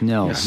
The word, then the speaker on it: Nils: Well, it's like the word nil with an S. It's Nils. Yeah, Nils.